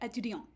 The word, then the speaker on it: étudiant: So for example, in the masculine, you also have a null, and you'll get étudiant.